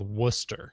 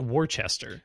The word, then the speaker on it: Worcester: town in Massachusetts called Worcester yeah which sounds like it's w-o-o-s-t-e-r no it's w o r c e s t e r it looks like War Chester there's but it's Worcester there's also a town